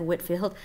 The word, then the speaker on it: Whitefield: One of those things actually was the evangelical revival in England that John Wesley and George Whitefield, it's spelled Whitefield, but it's said Whitefield, that they started.